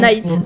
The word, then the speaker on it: Knight: Comment ça se prononce? Night. Tu dis pas le cas.